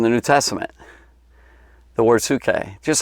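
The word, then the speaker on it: ψυχή: we're talking to greek which is suke i think is how you pronounce that suke that's a greek word we say soul if you read the bible in the original language it's tsuke so it's right up here see that p-s-u-c-h-e do you see that right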